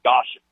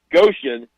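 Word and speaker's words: Goshen: he was talking about he never says Goan because he's afraid somebody won't know how to say it they'll call it goshan so Goan which is just outside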